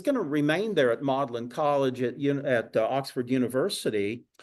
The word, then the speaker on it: Magdalen: Magdalene isn't it but um they uh incorrectly pronounce it modlin so he's appointed to the faculty there and